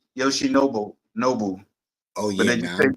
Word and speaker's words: Yoshinobu: It's actually Yoshinobu.